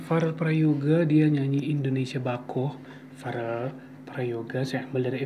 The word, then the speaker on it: Bakoh: Wow, bako, bacanya bako, Indonesia bako.